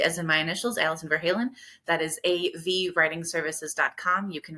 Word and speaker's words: Verhalen: And that's Verhalen, not Van Halen, which I accidentally typed 7 times today. It's spelled almost the same, and it wants to autocorrect almost every time, letting people know that it's VER.